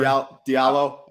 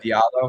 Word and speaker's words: Diallo: Mangone take over is I don't know how to say his name, bro. Like Hamidou Diallo or whatever. Diallo. Yeah. Diallo. Hamidou Diallo. Yep.